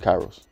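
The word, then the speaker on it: K8IROS: I don't want to say wrong oh I pronounce it Kairos Kairos yeah and that's the name of the brand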